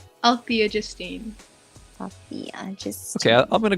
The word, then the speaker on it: Althea: do you pronounce it i call like my mom calls me althea but then so many other people call me altea then my friends call me so i don't know